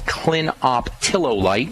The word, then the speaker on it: clinoptilolite: the most well researched one is something called clinoptilolite and that's spelled c l i n o p t i l o l i t e clinoptilolite one of the neatest things about zeolites